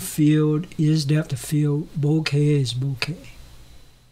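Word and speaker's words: bokeh: differently i look up a dictionary and they pronounce it bouquet and i that's just happened to be the way i pronounce it too if you can say boker i'm not gonna complain whatever um so the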